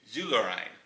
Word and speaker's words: Zuerlein: E-I in Dutch is I sound. So U-E-R, Zuer. Basically the weird phonetic pronunciation of a U with umlauts. So that'd be Zuerlein. German, I believe it's Zuerlein.